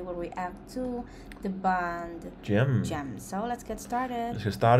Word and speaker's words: GEMN: So Gemn, pronounced Gemn, their name. G-E-M-N, yep.